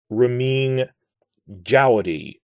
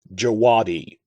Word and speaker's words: Ramin Djawadi: of thrones in westworld so you see it's pronounced rameen jaudy not jawadi jawody like the star wars creature jawa uh i i've seen